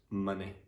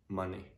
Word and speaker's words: money: need to use the uh song so it's money money yeah okay so how do you pronounce these well so you need to use